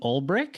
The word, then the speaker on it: Ulbrich: Um, I am here with Brian Olrich. Is that uh the correct correct pronunciation?